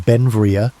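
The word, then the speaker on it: Beinn Bhreagh: pronounced Benvia.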